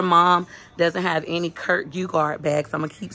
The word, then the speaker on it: Geiger: I call it Kirk Geiger, but it's actually pronounced Geiger.